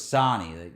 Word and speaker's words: Sony: So it's Sonny. Most people want to know. You're not Sonny? Because, yeah, Nasano, it's like O as an octopus, you know? But you spell it? S-O-N-Y. So one N. Sony. Sony, but the one N makes it Sonny.